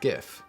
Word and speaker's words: GIF: creator intended go with jif and if you'd like to follow the crowd like a sheep go with gif so i really hope